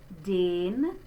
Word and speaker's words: den: Nach den. There is the closed E again. It's not den. Be careful because that's a different word in German.